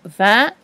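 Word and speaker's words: vingt: Alors, pour écrire 29, il faut deux mots, le mot 20 et le mot 9. On n'oublie pas entre chaque mot le tiret. 20 s'écrit V-I-N-G-T, deux lettres muettes, et 9, c'est le E de fleur.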